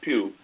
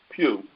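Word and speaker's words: Pough: you pronounce his name, Pugh. And Jamal works at the Pew. Only his is P-E-W, and Benny's is P-O-U-G-H, but it's still pronounced the same way, Pew.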